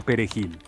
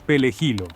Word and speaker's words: perejil: manera correcta la palabra perejil debido al idioma le resulta difícil pronunciar correctamente la letra r y sobre todo si esta se encuentra en medio de una palabra muchos Pueden decir pel jilo y otros Pueden decir